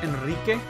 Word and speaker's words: Enrique: because it's Enrique... You have to roll your R's, and I see you